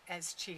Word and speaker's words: Qi: it's spelt Qi as Qi. I kind of do that by accident. I always say Qi when I see it because that's the Chinese way. Qi is Qi, and Chi is also Qi.